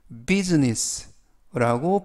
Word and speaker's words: business: 이번 표현은 bussiness business buess라고 발음하시면 되겠고요 이때 유의하실 점은 I 알파벳 아가 무음이라 발음이 되지 않습니다 그리고 S 발음이 스 발음이 아니라 즈 그래서라고음 면 품사는 명사 뜻은